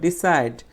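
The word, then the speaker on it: decide: এখানে দেখো ডিসাইড, এখানে ডিসাইডের সাইড শব্দটা হচ্ছে ট্রাই সিলেবল, এখানে জন্য আমরা জোরে উচ্চারণ করবো, ডিসাইড, ডিসাইড, ডিসাইড, ঠিক আছে।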